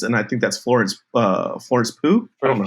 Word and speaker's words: Pugh: with her presence, and I think that's Florence Pugh. I don't know how to say it. I think it's Pugh. Florence Pugh.